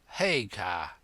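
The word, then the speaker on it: Haigha: when he's happy his name's his name is hager he pronounced it so as to rhyme with maya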